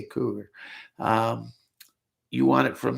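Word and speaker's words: Cugir: cougar plant that's c-u-g-i-r some guys pronounce it coozer cougar cougar whatever i say cougar um you want it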